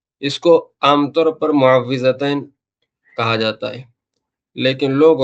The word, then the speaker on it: معوذتین: کو عام طور پر معوذتین کہا جاتا ہے، لیکن لوگ عرفاً اس کو معوذتین کہتے ہیں۔ صحیح تلفظ جو ہے اس کا واو کے زیر کے ساتھ ہے، معوذتین۔ عوض یعوذ تعویذ کے